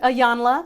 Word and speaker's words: Iyanla: Iyanla. Ayana, okay. I say Iana.